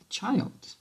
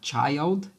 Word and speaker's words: child: Children é o plural de child, ó, child. Lembra que até a pronúncia muda, né? Na segunda palavra, nós temos uma pronúncia aberta, child.